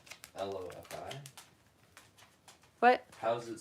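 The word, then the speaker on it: LOFI: L-O-F-I? What? How's it spelled? L-O-F-I, but pronounced lo-fi.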